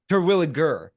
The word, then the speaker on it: Terwilliger: Because Terwilliger. You almost got it. I almost got it. It's a hard G.